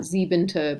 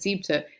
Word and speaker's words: siebte: You lose that syllable. It's not siebente, but siebte.